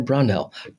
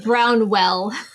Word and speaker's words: Brownell: romance author Regina brell did I say your last name right you did you did you're like one of the first people to actually say my name right I got it it's usually brownwell oh okay that's what everybody says okay I'm not going